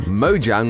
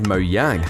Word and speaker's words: Mojang: transitioned to Over time however in Sweden Mojang would actually be pronounced as moang now don't feel too